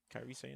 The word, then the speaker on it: Kyrie Sane: Kyrie Sain, that's how you pronounce it.